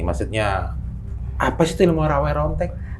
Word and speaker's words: Rawa Rontek: Jadi gini Teh Feni, maksudnya apa sih itu ilmu rawe rontek? Rawe Rontek kalau pengucapannya. Okay. Kalau tulisannya rawa rontek.